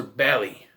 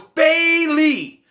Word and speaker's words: Bayley: by michael cole when he calls her belly it's belly i'm like no it's bailey that's even how it's spelled bae lee say it right or